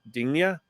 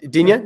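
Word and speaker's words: Digne: uh i can never say his name d dingnia yeah uh dunya yeah you got it yeah uh i know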